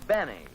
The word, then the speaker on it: Benny: doctor no this is Jack Benny rhymes with Penny if he can arrange